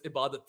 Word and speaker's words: Ebadot: I thought it was Ebadot. I thought that's how it's supposed to be pronounced. I call him Ebadot in my head as well, but no, it's Ibadat Hussain.